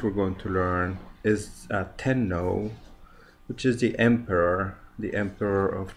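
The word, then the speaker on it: 天皇: Tenno. Tenno is the emperor of Japan.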